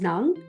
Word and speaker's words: Nang: That's how I pronounce it, like in the Philippines. That NG is Nang.